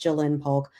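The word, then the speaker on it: Ja'Lynn Polk: The Patriots duo, Javon Baker, Jalen Polk, those apostrophes really get me because it should be pronounced Jalen Polk.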